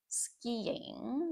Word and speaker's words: skiing: child, I would go skiing. Notice the pronunciation of that there. Skiing. So, it should be um ski and then you add a little Y sound if that helps you. Y ski.